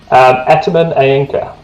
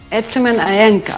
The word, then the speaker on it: Etemen Ænka: The right pronunciation will be? Etemen Ænka. Etemen Ænka.